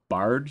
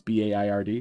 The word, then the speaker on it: Baird: I'll be at the Baird Center. I've heard it pronounced Bard Center, but it's Baird.